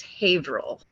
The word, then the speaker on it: Haverhill: to say it wrong, but I think it's Haverhill, New Hampshire.